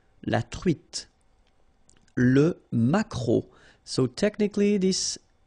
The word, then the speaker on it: maquereau: T, la truite, le maquereau, so technically this K, just pronounce it K, mac, maquereau, maquereau, alright, and then E, A, U, remember when you combine these three vowels, you get the sound O, maquereau, okay, and then